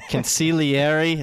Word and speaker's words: consigliere: It's from The Godfather, the consigliere. I know the G is silent.